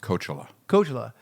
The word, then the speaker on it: Coachella: It's pronounced Coachella.